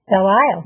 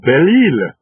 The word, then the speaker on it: Belle Isle: And a lot of these names that maybe you pronounce one way, because that's the way we do it in English, but the original names were somewhat different.